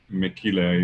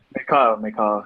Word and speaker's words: Mikal: Okay, thank you, Mekile. I don't know if that's the way you pronounce it. Mikal. Yeah, everyone messes up my name for one reason.